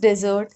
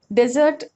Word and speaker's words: desert: For example, the largest desert in the world is the Sahara. Desert is also used as a verb, but then the pronunciation changes.